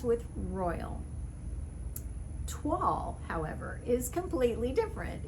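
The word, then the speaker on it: toile: voil rhymes with royal tuall however is completely different it is pronounced the french way and it is actually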